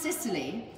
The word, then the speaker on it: Cecily: shutter on eye and Cecily which is actually pronounced Sicily which is Shazza nice